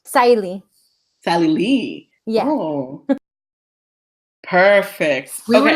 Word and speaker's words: Sahily: actually quick question your name is pronounced the pronunciation of your name is sali correct Sally Sally yeah perfect we're like in the middle